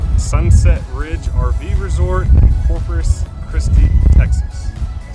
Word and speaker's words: Corpus Christi: place is called Sunset Ridge RV resort and Corpus christe Texas I say that right yes you said